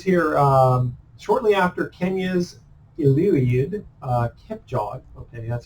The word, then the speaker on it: Kipchoge: And then it says here, shortly after Kenya's Eliud Kipchoge, okay, that's how to pronounce it, recorded an unprecedented run, 26 miles, the marathon, in less than 2 hours.